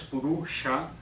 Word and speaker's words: Purusha: Y esto es Purusha, Sha es una S retrofleja, ahora no me voy a extender.